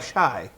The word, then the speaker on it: Chey: CH or like Cheyenne like Shai is it it's like Cheyenne yeah there hey bingo